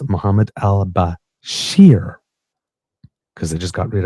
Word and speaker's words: Bashir: named uh now listen be be careful the pronunciation here it's Muhammad Al Bashir because I just got rid of Al Bashar so not the same place so it's Basher B- a s h i r um according